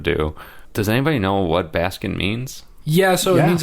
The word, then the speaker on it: Baskin: ever figur that out I assume it's Baskin like Basin Robins not enough ice cream